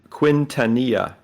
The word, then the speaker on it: Quintanilla: this other guy, Quinn, I got to pronounce his name right. Quinn, who took over in the 60s, Project Blue Book. Starts with a Q. Oh, come on. Really? Oh, PQ. There we go. Quintanilla.